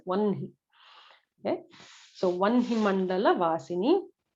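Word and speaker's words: वह्नि: Vahni is what it is written as if you're reading it in English, but it should be pronounced as Vanhi.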